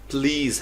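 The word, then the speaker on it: please: करें तो ये लफ्ज़ प्लीज़ है। प्लीज़, इस लफ्ज़ पे गौर करें, इसमें ज़ साउंड आ रही है, प्लीज़ यानी PLEEZ, प्लीज़। लेकिन अगर आप पुलिस को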